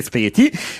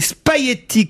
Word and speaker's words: spaghetti: Je suis d'accord avec vous, je dis spaghetti sans prononcer le G, je suis originaire de